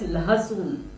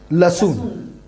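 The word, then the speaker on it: लहसुन: Garlic is called as lahasun. Lahasun. Okay. But you can call it as a lasun. Okay.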